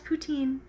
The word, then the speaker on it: poutine: Pronounce poutine.